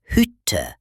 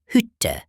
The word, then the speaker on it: Hütte: A short vowel usually comes before a double consonant, like in Stadt or Hütte.